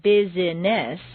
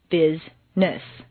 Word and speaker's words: business: actually spoken for example business is not biziness but rather Bizness just when you get